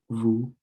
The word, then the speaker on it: vous: S'il vous plaît. You don't pronounce the T. And then you have the O and the U, so it's vous.